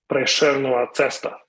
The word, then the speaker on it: Prešernova cesta: in Slovenia, which is Prešernova cesta. Might sound a little rough on the tongue, but trust me, that's how it's pronounced.